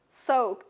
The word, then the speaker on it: soaked: Shift, ft, final, initial, final, sand, final, nd, brave, brave, initial, soaked, soaked. Do you see ed? But it's pronounced t.